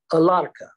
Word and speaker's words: Alarka: the child going to be and she said alarka a-l-a-r-k-a for those of you who can't catch Sanskrit to pronunciation which is difficult I find that all